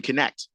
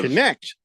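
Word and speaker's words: Knecht: the Pistons taking uh Dalton connect the forward out of out of connect yes like connect for yeah it's it's spelled k NE C HT connect I was like for night I mean if you say I don't I don't know serious that is German for night look it up I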